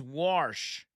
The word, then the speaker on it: Warsh: His name's Warsh, which is how my dad used to pronounce wash.